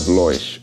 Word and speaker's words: Loish: Publishers, and The Art of Loish, or Lois, depending on how you say it, or Loish.